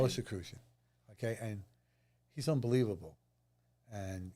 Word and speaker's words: Rosicrucian: Rosicrucian. Rosicrucian.